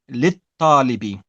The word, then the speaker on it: للطالب: And remember, the ta is a sun letter. So we don't pronounce the lam. We say lit-talibi.